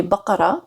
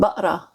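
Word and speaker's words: بقرة: Normally in modern standard, it would be baqara. Yeah. But in Egyptian, it would be baqra.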